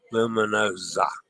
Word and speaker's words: Luminosa: The S in Luminosa is pronounced with a Z. Luminosa. In Italian, the single letter S sounds like a Z.